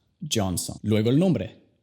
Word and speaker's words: Johnson: La J se pronuncia igual que en Justin. Johnson, Johnson.